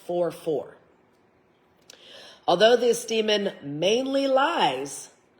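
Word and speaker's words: Furfur: It's spelt like fur, but it's pronounced 4-4.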